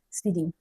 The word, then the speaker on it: SPDY: HTTP/2 was released on a Google experiment called SPDY, pronounced speedy.